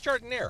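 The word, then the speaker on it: giardiniera: But here in Chicago, it's Jardiniere. It's not French. The way you say it sounds real expensive. You could like add a few dollars to the price the way you pronounce it.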